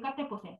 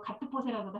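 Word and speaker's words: Gattefossé: 르네드 까테포세, 까테포세라고도 하고 가트포세라고도 하고 발음이 조금씩 다르더라고요.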